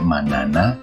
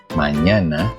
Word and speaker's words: mañana: Contoh, mañana, niño, España, dan sebagainya. Jadi ketika kamu menemukan huruf ñ, jangan dibaca manana, nino, España gitu ya. Tapi yang benar adalah mañana, niño, España.